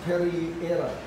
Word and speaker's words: Pereira: It's Pereira. Pereira. Pereira. Pereira is a water. Right. Pereira. Pereira. Pereira. Yeah. Pereira. Yeah. Pereira. Yeah. It's okay. It's good. Pereira.